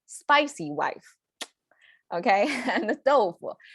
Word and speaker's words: 豆腐: Tofu is how we, fully pronounced as tofu, but a lot of times, because this is so common in our daily cooking, so we say tofu. the becomes like a very light.